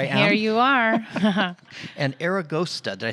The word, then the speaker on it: Aragosta: now here i am here you are and aragosta did i say it right yes eragosta means